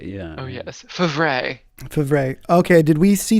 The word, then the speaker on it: Favre: yep long time packers quarterback brett pronounced fabre build favorite yeah oh yes favre favre okay did we